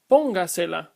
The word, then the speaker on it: póngasela: The first one is pronounced escríbaselo. The second, póngasela.